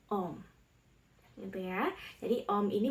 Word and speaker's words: Om: Aum ketika diucapkan secara terus-menerus, maka kedengarannya akan berbunyi Om.